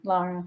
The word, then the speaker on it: Lara: So it's pronounced Lara. Is that correct? Yes, thank you for asking, Lara.